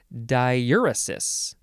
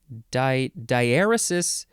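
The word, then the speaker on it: diaeresis: the word diuresis and it's actually pronounced I should fix that diuresis diarysis the British say diurysis I think that's close enough it is spelled d-i-a-e-r-e-s-i-s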